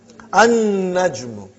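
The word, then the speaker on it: النجم: An-najmu. You did not pronounce lam because noon is a Shamsiyyah, sun letter.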